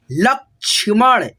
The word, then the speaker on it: लक्ष्मण: मस्ताना, मस्ताना, ठीक है, लक्ष्मण, छ से पहले आधा क का उच्चारण, लक्ष्मण, दर्शन, स से